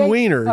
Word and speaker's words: Wieners: Is Wiener the correct pronunciation? Yes, John Wieners.